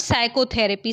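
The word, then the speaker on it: psychotherapy: क्या हो जाएगा sandwich which letter is silent in the word साइकोथेरेपी साइकोथेरेपी में आपका क्या साइलेंट हो रहा है साइकोथेरेपी पी साइलेंट नेक्स्ट देखते हैं बस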